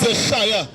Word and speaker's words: Yeshua: How is pronouncing Jesus? His name is Yeshua.